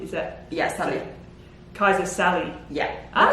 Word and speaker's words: Sali: Kaisa Sali. Yeah, that sounds good. It's more like Sally, not Sali.